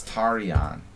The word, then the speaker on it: Tarjan: But actually, if you want to be correct, it's Tarjan with the European J sound. It's a city, it's a town in Hungary. It's a Hungarian name, but he doesn't use the Hungarian pronunciation.